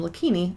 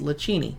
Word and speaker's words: Lakini: Here's one that trips up a lot of people. Lakini Vineyards from Oregon. They're over by Purple Cafe. It's named after the owner, Ron's last name, Lakini. I, of course, walked in the first day thinking it was Lacini.